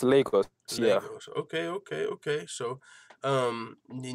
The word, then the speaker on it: Lagos: Lagos, Nigeria? Yeah, it's pronounced Lagos.